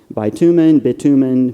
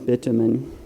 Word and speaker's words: bitumen: And Rachel Helton and I have looked up this word, and we've seen more than one pronunciation: bitumen, bitumen. Yesterday, after the performance, I talked about this yesterday, and a good friend of mine said, it almost sounds like bit human, a bit human.